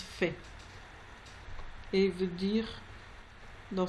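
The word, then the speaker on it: פ: Sans dagesh, il se prononce fait.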